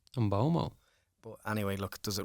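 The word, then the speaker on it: Mbeumo: And we were chatting about the Brian Mbuemo, but he actually on a Man United video says Brian Mbomo. Mbomo.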